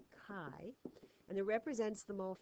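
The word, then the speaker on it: χ: which is the Greek letter Kai pronounced Kai and it represents the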